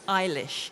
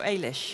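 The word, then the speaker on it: Eilish: how do you pronounce ish is it ish or Alish you can say Alish or ish it depends on what part of Ireland you come from because I and I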